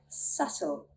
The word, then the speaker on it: subtle: So the theory, we do not sound out the letter B when it comes before a T or an M. Let's look at some examples. Debt, debt. Subtle, subtle.